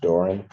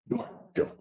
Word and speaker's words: Doran: Spelling on the last name is Doran. And it's pronounced Doran. Doran.